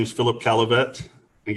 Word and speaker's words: Caillavet: my name is Philip Kelly bet and get my last name ride I get tired of people saying it wrong it's a caliphate just if you see